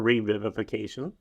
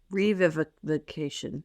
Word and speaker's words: revivification: I've ever heard before: revivification. Okay. Revivication. I think there's an extra syllable in there because the subtitles only had revivication.